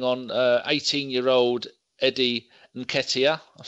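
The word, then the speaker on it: Nketiah: what I'll bring on 18 year old Eddie and Katia I've said that right people off the four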